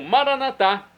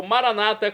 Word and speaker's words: Maranatá: E agora eu clamo Maranatá, como dizemos nós católicos, ou Maranata, como dizem nossos irmãos separados, os evangélicos ou protestantes. Não importa, a pronúncia e o significado é o mesmo.